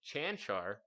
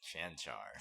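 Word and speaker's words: Čančar: We got to see Vlatko Cancar. That's how you say it. You surprised? Cancar.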